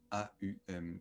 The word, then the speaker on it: Aum: dans sa version longue, qui est le Om, A-U-M, qui se prononce Aum.